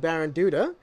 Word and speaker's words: Baranduda: Brett who is the manager of JJ and baron Duda correct how do I get the pronunciation you got the right oh excellent H